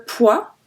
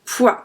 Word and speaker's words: poids: Il a pris beaucoup de poids with a D. And we don't pronounce D and we don't pronounce S.